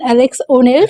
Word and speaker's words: Alexx O'Nell: সেখানে দাঁড়িয়ে আজকে আমার সাথে রয়েছে অ্যালেক্স এন ওনেল, sorry pronunciation, Alex O'Neill.